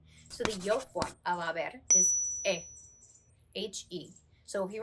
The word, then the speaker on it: haber: present tense conjugation of haber, okay? So the yo form of haber is H-E. So if you remember, quick tip, we don't pronounce the H's in Spanish, okay?